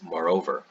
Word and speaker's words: moreover: Another one you can use is "moreOver" or "Moreover"— the pronunciation being the difference between British English and American English but when you're using